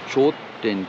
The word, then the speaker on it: Chodten: চোরতেন, আমরা চোরতেন বলছি, উচ্চারণটা হলো চোরতেন, CHODTEN, চোরতেন।